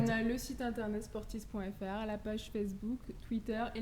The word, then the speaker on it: Sportiiz: Donc n'hésitez pas, vous téléchargez l'application Sportis, ça s'écrit Sportiiz, 2 I qui se suivent.